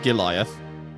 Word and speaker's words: Giliath: Probably Giliath. Sounds like it would be pronounced like Goliath, but Giliath.